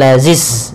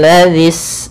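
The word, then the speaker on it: الذي: Hati-hati juga di lafal huruf dzal. Ini huruf dzal ya, bukan zai. Hati-hati jangan membacanya dengan za. Misalnya kamathalil ladzis. Maaf, kamathalil lazis dengan zai. Tapi dia kamathalil ladzis dza zis.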